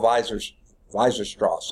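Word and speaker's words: Weierstrass: provide a rigorous proof was German mathematician Carl Weiser-Strauss, I think is how you pronounce it.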